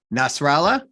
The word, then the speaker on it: Nasralla: by the way, I'm going to try to pronounce Nate's last name because I keep messing it up. So we're talking to Nate Nasralla.